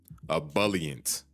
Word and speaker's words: ebullient: The pronunciation. Ebullient.